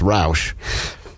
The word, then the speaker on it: Rauch: I'm here with melissa rauch I'm really glad to be here so you already said her name wrong it's rauch yep and big so